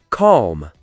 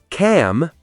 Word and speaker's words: calm: Silent L. Calm. Say cam. Half. Say half. Talk. Say talk. Silent L happens a lot. Learners often over pronounce it. But if you want to sound natural, just skip the L.